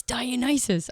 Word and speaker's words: Dionysus: He didn't have the new YouTube pronunciations, and so I went back and I was like, oh, it's Dionysus. I've been saying it wrong the entire time.